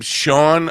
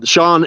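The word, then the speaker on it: Siobhan: like how how do you pronounce her I've been following her for a while I did not know how to pronounce her name I guess it's the Irish her she's got of Irish descent but she lives in a she's from Australia but yeah Sean s i an SM YT she's uh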